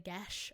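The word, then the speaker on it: geas: The Gesh. Oh, the That's how it's Gesh. pronounced on the audiobook.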